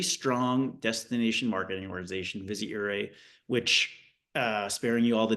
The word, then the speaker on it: Ouray: Great example with Ouray, just to start, is making sure we pronounce the name right.